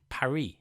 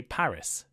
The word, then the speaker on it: Paris: The capital of France is Paris, but in English we say Paris. Why this difference? Well, in French they tend not to pronounce the S at the end of words, while in English we do.